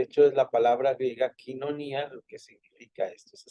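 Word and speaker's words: koinonía: vista hasta arriba es la parte de la quinonías y la quinonía es esta famosa parte de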